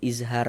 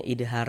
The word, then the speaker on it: izhar: Izhar. Begitu. E karena nanti kalau kami buat pakai huruf D ditulis idhar, khawatirnya nanti kalau yang pemula-pemula malah bacanya idhar bukan izhar.